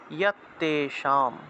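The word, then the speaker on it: যত্তেষাম্: যে মনুষ্যানাম চ, এই যে নিয় চয় আছে, এটা উচ্চারণটা হবে মনুষ্যানাম চ ইয়ত্তেষাম, যত্তেষাম আছে, উচ্চারণ হবে ইয়ত্তে, অন্তস্থ জয়ের উচ্চারণ হলো ইয়, তাহলে ইয়ত্তেষাম। যারা উচ্চারণ বিধির ক্লাসগুলো করেন নাই, আপনারা উচ্চারণ বিধির ক্লাসের ভিডিওগুলো দেখে আসবেন, ঠিক আছে?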